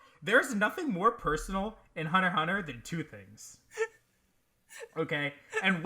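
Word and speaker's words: Hunter × Hunter: to do this is hunter hunter by Oceania Takashi it has an X in it but apparently you're not supposed to pronounce the X I think that's dumb but that's apparently how it works so whatever I think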